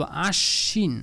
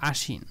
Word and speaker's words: আশ্বিন: দুইবার উচ্চারণ হবে হ্যাঁ এটাকে আমরা বলব আশ্বিন নট আসিন আশ্বিন বা আশবিনও বলা যাবে না হ্যাঁ যদি এটা শব্দের শুরুতে হইতো তখন বফালাটা উচ্চারণ হইতো না যেহেতু এটা মাঝখানে বা শেষের মধ্যে রয়েছে এবং এখানে এই বফালাটা যুক্ত হলে এটাকে আমরা দুইবার উচ্চারণ করব বলবো আশ্বিন অশ্ব বিশ্ব নট বিশ্ব বিদ্যান বানও